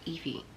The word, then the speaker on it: Evie: iffy yes so 76 her name was Evie and I was saying Alfie it's embarrassing like how